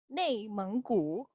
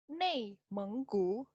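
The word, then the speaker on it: 内蒙古: Dengerin ya cara bacanya. Xizang. Lagi. Xizang. Kemudian nomor 2, nih, Guangxi. Guangxi. Guangxi. Ningxia. Ningxia. Neimenggu. Neimenggu.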